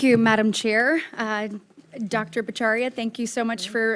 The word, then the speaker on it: Bhattacharya: Baria, thank you so much for Or how do you say it? Say it for me. I say Batari, but my cousins think I don't know how to pronounce it.